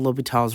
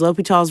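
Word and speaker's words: L'Hôpital: up with something called l'hopital's role by the way the S is silent there are some spellings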